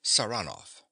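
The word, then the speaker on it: Saranoff: him round this way he pronounces the name with a stress on the second syllable saranov nicola yes sir he goes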